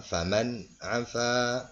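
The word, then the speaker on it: فَمَنْ عَفَا: Jadi dibacanya faman afa, ya, faman afa wa aslaha, faman afa, ya. Jadi tidak dibaca dengung, ya, tapi dibaca jelas karena nun mati menghadapi huruf idhar.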